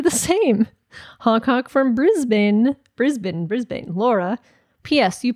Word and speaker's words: Brisbane: It's Brisbane, not Brisbane. Or affectionately, Bris Vegas, like Las Vegas.